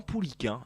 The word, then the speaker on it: Pouliquen: Tu l'as très bien prononcé Manu, c'est Yvan Pouliquin, effectivement. Pouliquin, ouais. C'est pas Ken.